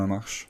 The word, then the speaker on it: Lamarche: How do you pronounce it properly? Oh, no, actually you did really well. No? It's, Lamarche.